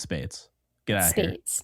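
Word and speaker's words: Speights: was pronounced what how the hell do you pronounce his name om I I spice last name like I think someone said Omar Spees no it's Spates get out of here Spates no I know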